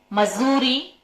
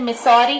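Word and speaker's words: Missouri: मैंने इंग्लिश में जब पढ़ा था तो इसका प्रोनाउंसिएशन मिसौरी किया था। आई एम सो सॉरी, क्योंकि ये जगह मेरे देश की नहीं है और मैंने इसका प्रोनाउंसिएशन चेक भी नहीं किया था। जब मैं अभी हिंदी में इसको लिखने लगी तो मैंने देखा कि ये मिसौरी नहीं है, ये मजूरी है।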